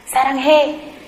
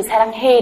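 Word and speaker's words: 사랑해: Nhưng mà các bạn có biết là cái từ saranghae đấy là viết là e hay ê không ạ? Nó lại viết là e đấy ạ. Thế nhưng mà người ta lại đọc là ê.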